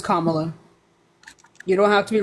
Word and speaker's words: Kamala: that Kamala is trying to legalize it'sa it's Kamala you don't have to be racist it's Kamala